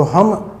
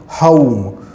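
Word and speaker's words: home: Friends, इस word को जब प्रोनाउंस करते हैं तो हम होम नहीं पढ़कर इसे कहेंगे हाउम।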